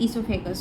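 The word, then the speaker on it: esophagus: यहाँ पे ओ जो है ना साइलेंट होता है, तो ये ईसोफेगस हो गया।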